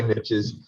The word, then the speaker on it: niche: There are niches, depending on how you pronounce it. I say niches.